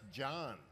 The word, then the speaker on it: Jon: It's just Jon. There's no H in it. The H is silent and invisible.